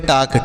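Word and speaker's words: talk: तो इसे क्या पढ़ेंगे इसे पढ़ेंगे टाक टी ए एल के टाक पढ़ेंगे इसे टाल का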